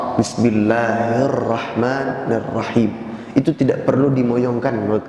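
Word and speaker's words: بسم الله الرحمن الرحيم: Bismillahirrahmanirrahim. Matnya jangan lebih dari 2 harokat.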